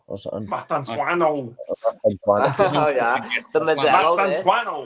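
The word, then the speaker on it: Mastantuono: And then they got that Argentinian lad, I struggle to say his name, like Mastantino or something. Mastantuano. Oh yeah, the Modelo. Mastantuano. The Modelo's just come out.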